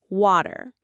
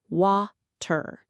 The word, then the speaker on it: water: Imagine the word water. In careful textbook English, you might pronounce every letter wa-ter. But in real American speech, that T often melts into a soft D sound, water.